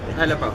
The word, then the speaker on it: Elebao: Elebao.